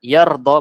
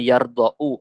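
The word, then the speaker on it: يرضى: Alif tetapi tidak muncul maka dibacanya yardhol bukan yardhou aslinya harusnya yardhou tapi lemahnya di situ tidak dipakai karena tidak boleh Alif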